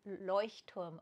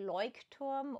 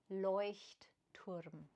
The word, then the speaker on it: Leuchtturm: So English people say Leuchtturm, but it's actually a German company. And the way to pronounce it is Leuchtturm. But the CH, the German CH, usually English folks can't pronounce it, which is perfectly fine.